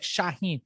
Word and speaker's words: Shaahin: was like what's your name i'd be like shaheen shah what i'd say shaheen they'd be like